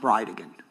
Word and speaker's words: Bridegan: And I'll represent to you that it's pronounced Bridegan.